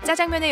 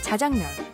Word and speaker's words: 짜장면: 지금 공화춘이 있던 자리에는 내부 리모델링을 거쳐 짜장면의 역사를 한눈에 볼 수 있는 짜장면 박물관이 개관되어 운영되고 있습니다. 짜장면이라고 불리게 된 이유를 살펴보면 짜장면의 중국식 발음은 짜장미엔인데 짜장미엔은 짜장미엔에서 짜장면으로 발음하기 좋게 자연스레 변해왔습니다. 짜장면, 자장면.